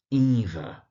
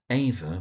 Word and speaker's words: Eva: Now, Eva Smith is worth checking. Eva, not Ava, but Eva Smith.